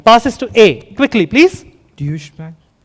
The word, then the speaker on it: Deutsche Bank: Dish Bank. Deutsche Bank is correct. We will accept pronunciations.